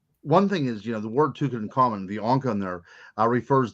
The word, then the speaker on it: Tutankhamun: Tutankhamun.